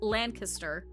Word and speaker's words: Lancaster: It's actually pronounced Lancaster because that's how it would be pronounced in Pennsylvania Dutch.